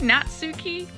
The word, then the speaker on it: Natsuki: How the do I pronounce his name? Chat. Nuki. Natsuki.